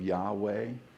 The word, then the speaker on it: Yahweh: the ancient name of Yahweh, that the sound Yah is that sound of the in-breath, is the sound of the out-breath.